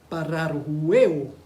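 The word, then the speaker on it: παραρρυέω: La palabra traducida como deslizarse es la palabra griega pararrueo.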